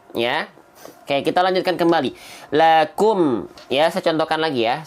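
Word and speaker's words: لكم: Bukannya sekedar lakum, enggak, tapi lakum. Nah, maju bibirnya, ya, karena ada dalilnya, ada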